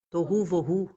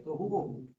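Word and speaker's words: תֹהוּ וָבֹהוּ: Tohu, vohu. Não é voodoo não, tá, gente? Tohu, vohu. Tohu, vohu. Perfeito. É assim mesmo a pronuncia. Tohu, vohu.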